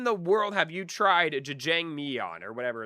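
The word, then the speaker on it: 짜장면: It's pronounced jajangmyeon.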